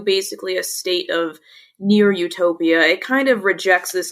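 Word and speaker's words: eutopia: it's pronounced utopia also, just like the word utopia, but they put an E in front of the U, and for whatever reason, somebody coined that and determined that meant like a near utopia.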